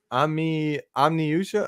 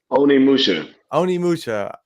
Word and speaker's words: Onimusha: I always pronounce this wrong. Omniusha. Oh, what was that one called, dude? Onimusha. My dyslexia gets the best of me on that one.